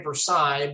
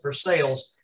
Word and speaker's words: Versailles: I always want to say Versailles, but I think they pronounce it Versailles.